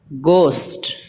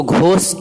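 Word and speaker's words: ghost: Year یا year وارث۔ گوسٹ، گوسٹ بھوت پریت، اس کو گھوسٹ نہیں پڑھیں گے، ایچ خاموش ہے، ایچ نہیں پڑھا جاتا، گوسٹ۔ ریدم، ریدم وزن یا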